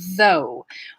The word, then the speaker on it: though: to pronounce it though it has a voice th the beginning and then a diphthong o u sound though what about thought so